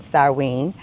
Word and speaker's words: Samhain: Now, Samhain is spelled S-A-M-H-A-I-N, but it's pronounced Samhain.